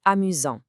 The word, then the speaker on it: amusant: Once again, that t is silent.